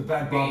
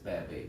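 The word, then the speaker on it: Bhad Bhabie: The Bad Bobby. Baby. Is that what it is? Yes, it's Bad Baby.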